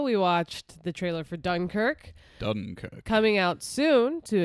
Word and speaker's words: Dunkirk: watched the trailer for Dunkirk Dunkirk coming out soon to a theater near you we have to go to D cook um that's how they say it that's how the British say it so this is a